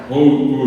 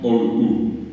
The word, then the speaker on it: hou: Hou decimos, no decimos OU.